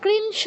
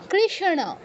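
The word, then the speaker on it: কৃষ্ণ: না র বলছি তারপর এক্ষেত্রে স আগে আছে ন পরে আছে আমরা কিন্তু কৃষ বলছি না কি বলছি কৃষণ স আগে আছে তাই স আগে উচ্চারণ করছি ন পরে আছে তাই ন পরে উচ্চারণ করছি তারপর এই কষেত্রে সত্য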